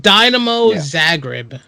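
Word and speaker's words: Dinamo Zagreb: something during the day that was a speech dynamo zagreb that's how you pronounce it remember to bet off uh you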